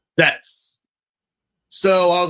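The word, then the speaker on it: Zeztz: Yeah, it's pronounced Zets. Zets.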